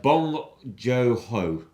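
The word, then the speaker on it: Bong Joon-ho: And would you like to pronounce his name? Would you like to have a go? No, quite frankly, it's Bong Joon Ho.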